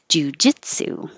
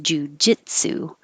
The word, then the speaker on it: jiu-jitsu: so take your pick jiu-jitsu one two three jujitsu it's the same pattern as banana in case you're wondering why bananas over here um jiu-jitsu okay that's it thank